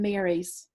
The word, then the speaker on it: Mary: The East was full of old ladies who spun tall tales, Margarets, Maureen's and Marys, pronounced Mary to rhyme with cheery, thus differentiating them from the other sort of Mary, the ones named after the Mother of God.